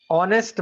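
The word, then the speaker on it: honest: हम लेते हैं एन ऑनेस्ट मैन एन ऑनेस्ट मैन तो यहां पे हम एच साइलेंट है ठीक है एज साइलेंट है हम क्या बोलते हैं ऑनेस्ट मैन इसी वजह से हम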